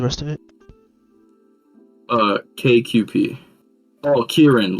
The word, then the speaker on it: Kirin: Oh, Kirin, like Kirin.